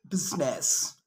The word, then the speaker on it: business: is not usually silent it's usually pronounced except in the word business okay okay now i